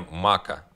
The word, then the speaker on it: Maka: И получается, что ударение Мака на А.